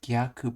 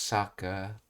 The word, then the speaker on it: 逆: Okay, it's pronounced Gyaku by itself, reverse opposite, but as part of this word it's pronounced Saka.